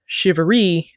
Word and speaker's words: charivari: English as well and English has a tendency to slur words and clip them short thus over time shiveri became a common pronunciation the spelling is sometimes